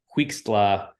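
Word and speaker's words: Huixtla: it's it's something like so it actually almost looks like kind of how it's spelled it's h-u-i-x-t-l-a so he's talking about this place called quickst La Mexico and I believe that's actually how it's pronounced so here it is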